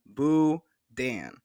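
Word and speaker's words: boudin: is buan is the authentically Cajun item is pronounced buan but we know it's an unusual word if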